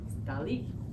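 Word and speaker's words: Dalí: mustache dolly which was until I really learned Spanish that I realized oh there's an accent on the eye dolly the other thing measuring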